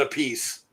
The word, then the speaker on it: Appice: Yeah, and he pronounces it a piece. Yeah. Well, Vinny they- pronounces it Appice.